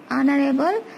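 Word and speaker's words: honourable: অনারেবল, এখানে এইচ উচ্চারণ হচ্ছে না সেজন্য আমরা এন ইউজ করব।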